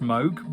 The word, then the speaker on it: Moog: So I appreciate it should be pronounced Moog, but the pun doesn't work otherwise.